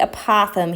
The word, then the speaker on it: apothem: height would be the apothem here I remember a Popham because in the Batman movies or in the Batman comics there's a city called Gotham and it rock rhymes with that so Gotham apothem that's how I kind